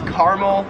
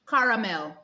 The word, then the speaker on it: caramel: Here, it is more pronounced like Uno. Number 7 is caramel, or as it said in Australia, caramel.